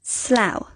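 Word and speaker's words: Slough: uh Thor finally ow this place in England is pronounced slow the letter c has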